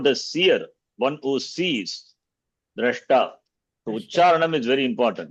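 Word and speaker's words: द्रष्टा: It is drashta or drishta. Drashtri. Even some acharya, they say it wrongly. I don't want to tell the name. Huh? The drashta is the they will say drishta, mantra drishta, not drishta.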